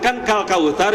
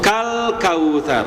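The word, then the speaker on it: كَالْكَوْثَرَ: Kenapa selalu ada qalqalah di huruf lam sakinah? Itu karena kita melepas terlalu awal, melepas lidah terlalu awal, Pak, gitu ya.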